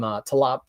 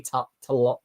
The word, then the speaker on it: Tolibao: You know, I winced a little bit because I always am looking for some art from Talaba. I say his name wrongly, but I'm obsessed with him. Harvey Tolibao. Harvey Tolibao.